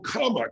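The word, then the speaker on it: kama: that timing but the second name they call comma k-a-m-a and it means pleasure and if you're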